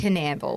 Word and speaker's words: Canal: It's Canal. Canal.